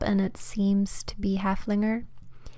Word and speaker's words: Haflinger: So I looked it up and it seems to be Haflinger, like I thought. So I'm just gonna go with Haflinger and hope that you guys will understand what I'm talking about.